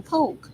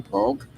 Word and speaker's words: Polk: And I am proud of my name, Poke. So, I'm just saying that. And I've had to almost, you know, verbally uh tussle with people about saying my name the way I want you to say it. What I'm saying, say if I say I'm Poke, I want you to address me as that.